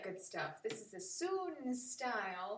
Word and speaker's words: Sun: stuff this is a soon style spelled sun pronounced soon style of tai chi